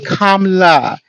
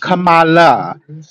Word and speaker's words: Kamala: Also, her name is Kamala, not Kamala. As Black people, pronunciation of her name is critical, so let's pronounce her name correct.